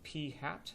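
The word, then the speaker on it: p̂: this guy right here that's pronounced P hat it's like a p with a little hat on top of it that is the sample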